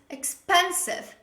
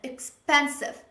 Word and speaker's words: expensive: of such words is expensive pay attention to the way i pronounce this word is pronounced like expansive expensive the stress is on the second syllable but most learners they